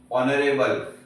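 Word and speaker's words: honorable: Same N लिखूंगा, okay, क्योंकि ये जो अवर है, ऑनेस्ट है, ये सब में एच जो है वो साइलेंट हो जाता है, ओके।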